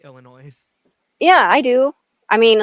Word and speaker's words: Illinois: people who say Illinois. No, S is silent. That's true. Or I don't I know. still Just correct people when people say Illinois.